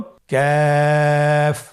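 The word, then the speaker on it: ك: কাফের মাখরাজ হলো জিহ্বার গোড়া থেকে একটু আগে বাড়িয়ে তার বরাবর উপরে তালির সঙ্গে লাগিয়ে উচ্চারিত হয়। তাহলে আমরা কফ যেখান থেকে উচ্চারণ করেছি একটু আগে বাড়িয়ে সেখান থেকে আমরা তার বরাবর উপরে তালের সঙ্গে লাগিয়ে হরফটি উচ্চারণ করব।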